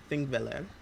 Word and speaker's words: Þingvellir: So, here in Iceland, specifically thinking, yes, that is how it's pronounced.